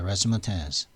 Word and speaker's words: razzmatazz: 레스마테즈. 발음은 레스마테즈입니다.